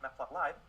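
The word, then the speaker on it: Matplotlib: Map plot li or as some people pronounce it mapplot live is the most popular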